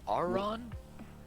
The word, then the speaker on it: Aureon: Auron? Yeah. It's I'll spell it for you.